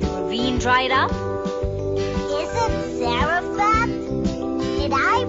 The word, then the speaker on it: Zarephath: Is it Zarephath? Did I pronounce it correctly?